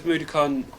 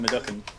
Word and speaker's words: Mudokon: Actually, everything tastes like Madukan. Everything tastes like Madukan. I'm saying it wrong, aren't I? Which came Mudokon.